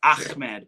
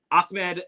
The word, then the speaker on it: Ahmed: So, like I mentioned last week's show, A I think it's it's actually pronounced Amed, but Akmed and Sharif of Qar,